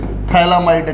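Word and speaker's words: phthalimide: तुमसे स्पेलिंग कोई पूछ ले थैलामाइड का तो भाई P से स्टार्ट करियो इसको। हाँ, थैलामाइड क्या?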